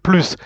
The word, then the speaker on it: plus: the the plus sign it is written the same in English but you pronounce it plus repeat after me so